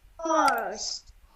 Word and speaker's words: horse: Bunu uzun O kimi tələffüz edəcəm. Horse. Horse. Və sondakı E oxunmayacaq. Horse.